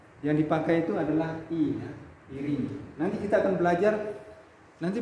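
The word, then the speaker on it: εἰρήνη: Contoh kata ya, misalnya irini, ya, irini. Ya, Yesus sering mengatakan kepada murid-muridnya, irini imin, artinya damai bagi semuanya. Artinya damai bagi kalian. Ya. Yang dipakai itu adalah ya, irini.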